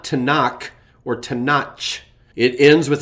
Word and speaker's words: Tanakh: The word Tanakh, which is an acronym for the Hebrew Bible, doesn't end with a hard K or a CH sound. So it's not Tanakh or Tanach.